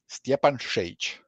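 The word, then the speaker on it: Stjepan Šejić: The way you pronounce my name is Steanage.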